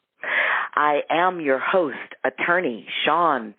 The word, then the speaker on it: Shaune: all of those places my moniker is Shan my first name is spelled s h u NE again Shan and you you